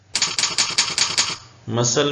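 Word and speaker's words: muscle: हवारी थे उनको भी डिसी पाइल कहते हैं मसल में सी साइलेंट उर्दू में मसल ऐसे लिखेंगे मसल का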